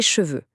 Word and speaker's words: cheveux: Par exemple, les cheveux.